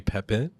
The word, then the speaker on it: Pepin: Pepin. I pronounced that correctly?